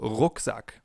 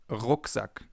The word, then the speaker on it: Rucksack: This sound is different than in English. In English it would be R. In German it's R. We form it more in the back of our mouths. For example, Rucksack, backpack, Rucksack.